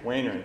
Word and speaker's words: Werner: pronounce that name right winner wayner got it nails and joanne